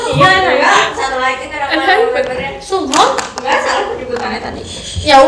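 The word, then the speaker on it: Sunghoon: Sunghun bacanya bukan Suhon. Sunghun.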